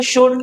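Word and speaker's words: should: L silent है। ठीक है? इस बात को याद रहे कि ये जो एल है इसमें ये साइलेंट होता है। ठीक है? शुड नहीं पढ़नी इसको।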